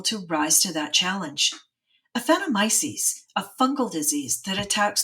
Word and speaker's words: Aphanomyces: a hard time pronouncing, but the way I pronounce it is Aphanomyces. Is that how you pronounce it? That is exactly how I pronounce it, Laura. So what are we talking about here? What is Aphanomyces? Aphanomyces is a root disease, a root rot disease